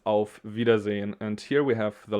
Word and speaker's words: Auf Wiedersehen: we have again i and e together so it's a long i v yeah long i here and long e over there auf wiedersehen okay and because we're lazy we say not auf wiedersehen but we say au vidas in so we just skip this e here if you pronounce it